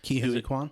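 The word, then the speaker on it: Ke Huy Quan: Ke-Huy Quan? Yeah, okay, I was going to pronounce it correct then.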